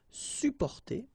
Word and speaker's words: supporter: Supporter. Supporter. You don't really pronounce the two or the double P here.